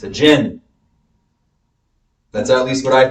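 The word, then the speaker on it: djinn: how do you say it gin it's a gin d-j-i-n and in Arab culture Middle Eastern culture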